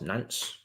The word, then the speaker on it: Nance: It's pronounced Nance. It doesn't look how it reads.